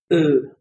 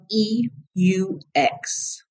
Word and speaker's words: eux: But if you want to say it's them, then we use eux. And it's spelled E-U-X. Eux. Repeat, eux. I know it sounds like just the letter E.